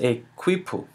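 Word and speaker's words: quipu: their method of counting and keeping record it's pronounced a quoo and it was pretty much a bunch of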